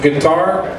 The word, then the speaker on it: GTR: the next one is gonna be, they're pronounced guitar, but it's spelled GTR.